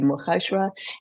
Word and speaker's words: Mogashoa: And yeah, I love how you pronounce my surname almost just there. And yeah, it's heartwarming. So I am Mogashoa, and I'm very happy to be here.